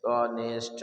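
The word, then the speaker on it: honest: कभी कभी हमने बताया एच के बाद अगर ओ आ जाए तो हमेसा नहीं पढ़ते आमतौर पर कभी-कभी पढ़ते भी हैं ठीक है ऑनेस्ट ऑनर ऐसे बहुत सारे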